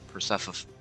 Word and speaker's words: Persephone: No, I'm pretty sure it's pronounced Persephone.